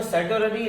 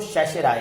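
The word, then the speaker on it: certiorari: अब इंग्लिश में हम पढ़े तो सर्टोररी, लेकिन इसको शेषराय कहते हैं। मतलब यहां पर आर साइलेंट है तो जगह आर साइलेंट है, शशि रॉय हो जाता है, शशराय।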